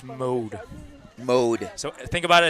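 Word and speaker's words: Maude: quarterback, I think, is pronounced mode. Mode. So, think about it. It's spelled M A U D E, but it's pronounced like M O D E.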